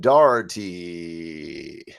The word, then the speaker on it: Dougherty: offstage what your last name and how to pronounce it was. It's uh it's Dougherty. So, Megan Dougherty.